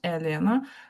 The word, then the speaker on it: Elena: Um I so elena but we say not Elena but uh we say and is short also in Italy is really is really common. Elena with the the accent on the first a. Okay. Elena not elena.